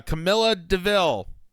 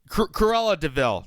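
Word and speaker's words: Cruella de Vil: of the democratic ethos the the the uh Camila DeVille did I pronounce that name right uh Corella DeVille thank you carella DeVille uh of the heinous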